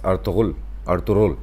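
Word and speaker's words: Ertuğrul: लोग अर्तुगरुल बोलते हैं हमारे यहाँ, इस अर्तुगरुल मतलब गैन थोड़ा सा साइलेंट है, बट वो भाई की बात भी लोगों की समझ में नहीं आई।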